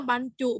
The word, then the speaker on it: บรรจุ: กัน อย่าง ต่อ ไป บรรจุ อ่าน ว่า บรรจุ เหมือน กัน ค่ะ คำ ว่า บ้าน เนี่ย